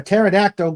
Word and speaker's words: pterodactyl: Just for that, why can't you hear a pterodactyl go to the bathroom? The P is silent.